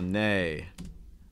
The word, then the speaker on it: neigh: oink horses ibrahim's clothes just gotta swap the i in the e okay so nay think of words for instance like a neighbor okay nay nay okay